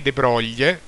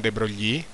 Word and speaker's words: De Broglie: Successivamente poi nel 23 De Broglie, credo che si pronunci così e non De Broglie, assegnò al contrario alle